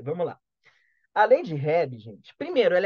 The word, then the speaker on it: Hebb: Gente, anotem esse nome aí, lei de Hebb. Hebb se escreve H-E-B-B. H-E-B-B.